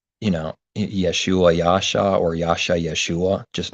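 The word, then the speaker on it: ישועה: know then there's yeshua there's a hebrew word pronounced yeshua it's got the hebrew word right next to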